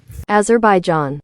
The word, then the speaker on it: Azerbaijan: Azer Bai Azerbaijan ceasefire in 2020 and actions like the